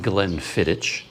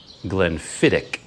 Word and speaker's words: Glenfiddich: in a comment that i was pronouncing it wrong it's not glenn fittich glenn fittick so i got a